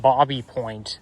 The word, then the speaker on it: Baby Point: There's Bobby Point Club. Now, I know it's spelled Baby Point, but technically speaking, it's pronounced Bobby Point because it's French.